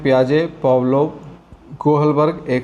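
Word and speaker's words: Piaget: spelling में ध्यान रखेंगे अगर हम लोग अपने इंडियन लैंग्वेज में इसको पढ़ने का प्रयास करेंगे तो यह पिया गट हो जाएगा लेकिन इसको पियाजे पढ़ा जाता है ठीक है और यह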